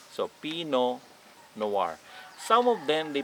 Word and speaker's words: Pinot Noir: need to pronounce the peanut the t so pinot noir some of them they pronounce it pinot noir which both of them